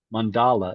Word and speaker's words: mandala: Now, the word mandala means circle. It's also pronounced mandala if you prefer. Both pronunciations are perfectly fine.